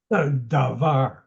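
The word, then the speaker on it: דבר: Davar, davar. And you know that the schwa is almost silent. Dvar. Rather, instead, this word is davar.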